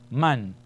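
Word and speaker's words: مَنْ: So mim fatha is ma, joined to the noon, man.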